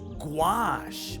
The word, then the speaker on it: gouache: I got to see how to pronounce that, too. Gouache.